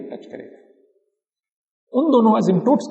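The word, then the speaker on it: asymptotes: Spelling है ASYMP, पर बोलते वक्त P साइलेंट है, एसिम्प्टोट्स बोलते हैं।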